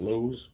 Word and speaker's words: Lowe's: lot this because there's a Lowe's store l-o-w-e-s lows well oews they spell it and also a Walmart out there and